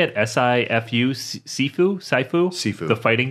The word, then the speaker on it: Sifu: S-I-F-U?